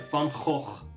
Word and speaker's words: Van Gogh: Sorry, a Van Gogh, everyone. That's how you pronounce that.